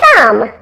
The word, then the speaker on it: thumb: changing the pronunciation so the B is still silent in those words here's a crazy practice paragraph to help you remember the silent B words my thumb is now numb from